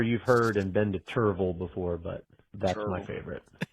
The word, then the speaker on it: Cherryville: But my favorite one is down here in the Charlotte area or surrounding areas is Cherryville, as all the natives say, Cherryville.